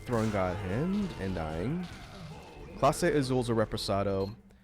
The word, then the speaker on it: Clase: have you ever tried clase azul and that was me not throwing god hand and dying clase is a represado it's spelled like it sounds c-l-a-s-e and azul and it's